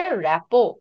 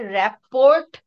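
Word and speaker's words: rapport: দয়া করে এটাকে র্যাপোর্ট বলবা না। র্যাপোর্ট, রিপোর্ট এগুলো আলাদা জিনিস। বানান র্যাপোর্ট, বাট ইট is pronounced as র্যাপো।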